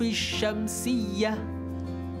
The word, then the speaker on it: الشمس: سميت لام لاماً شمسية لعدم ظهور صوت اللام عند النطق بها في اللفظ الشمس، وغلبت التسمية على باقي الحروف. اسمعوا جيداً: الشمس، نعم، لا يوجد صوت اللام، بل اللام قد أدغمت إلى حرف الشين، أليس كذلك؟